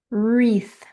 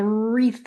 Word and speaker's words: wreath: Wreath. Now wreath is spelled with a W on the front, but the W is silent. So all you hear is the R in the front.